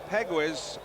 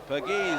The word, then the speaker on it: Pegues: This is Steve Pegwis. And it's low. Spells his name P-E-G-U-E-S. He's an outfielder. And it's pronounced Pegues, I understand.